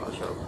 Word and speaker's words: أشرب: It's not ashrib. لم أشرب Yes. Lam ashrab.